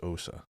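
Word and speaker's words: Ousia: If it was O-U-I, it would be pronounced we, because like, you know, French. But if it's O-U-S-I-A, it's just Osa.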